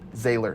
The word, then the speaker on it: Zahler: So Zahler.